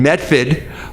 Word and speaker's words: Medford: i work at tufts university which is in medford and which is pronounced in massachusetts medford so in method we're right next to cambridge massachusetts and there's